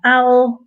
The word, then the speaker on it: owl: So be careful with pronunciation here because, howl has the h sound at the beginning, and owl, of course, is the animal without that sound.